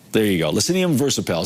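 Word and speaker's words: Leccinum versipelle: It is a Lecinium versipel. There you go. Lecinium versipel. Some people say Lestium, some people, it's slightly different when it comes to how the Latin is pronounced.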